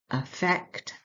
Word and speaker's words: effect: The pronunciation the stress is on the second part of the word effect.